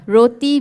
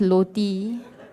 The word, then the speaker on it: roti: And the letters include L. So roti becomes loti.